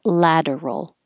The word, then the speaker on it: lateral: know why bursts lateral think of ladder for lateral and rotation ladder splurge